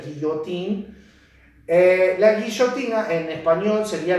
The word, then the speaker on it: Guillotin: señor de apellido Guillotin, que en francés se pronuncia guillotín.